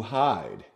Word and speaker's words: hide: hear the I sound why do I hear the I sound hide you say is a long sound but why because the E